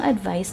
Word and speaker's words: advice: Pinibigkas natin ang advice na may S sound sa hulihan.